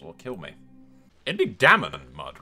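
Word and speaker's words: Daemon: It'd be Damon and Mud, right? Rather than, because Damon's the Targaryen spelling of the D-A-E, and then you kind of, the A is silent.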